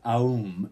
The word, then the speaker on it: Aum: most primary yogic meditations this is the word ohm and it is spelled here in the book AUM said to be the